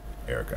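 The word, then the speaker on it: Erykah: Kicking off this one, you're going to hear one by Otis McDonald entitled Erica, spelled E-R-Y-K-R-K-A-H. Erica, I like the way Otis spelled that.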